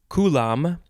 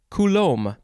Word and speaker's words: coulomb: in this episode is you can pronounce it coulomb or coulomb the first syllable is emphasized the second syllable easy is either lom or lom c-o-u-l-o-m-b noun from 1881